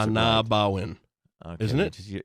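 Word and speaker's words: Ah-Nab-Awen: park anabo win one of these days you'll pronounce it anawin is it it's anabo win just say anabo win you say that I'll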